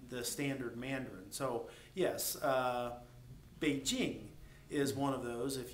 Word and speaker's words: Beijing: If you hear the Americans say Beijing, they actually say Beijing. Okay, and it's not Beijing, it's Beijing. So the J is much harder than how we pronounce it.